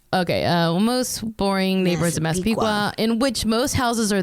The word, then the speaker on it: Massapequa: In one of the most white bread, boring neighborhoods of Massapequa, which she's like phonetically spelled out, but I think I'm Massapequa.